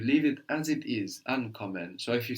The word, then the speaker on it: ankommen: Ankommen. Ankommen. Would this verb split? Yes. Why? Because the accent is on the an.